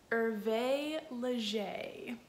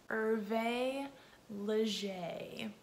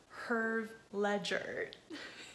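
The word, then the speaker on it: Hervé Léger: you pronounce this brand irvae leger i'm gonna say it one more time irvae leger it is not pronounced herb ledger it is not pronounced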